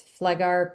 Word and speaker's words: Pfleghaar: is the website and then if you want to look up my last name, it's Flegar.